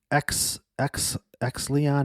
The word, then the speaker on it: Exeleon: I got this email from some random person at Exleon Magazine. I don't even know how to pronounce it.